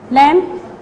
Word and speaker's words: lamb: Number 1 is lamb, comb, climb, crumb, thumb. When we say these words, we don't pronounce B because B is a silent word.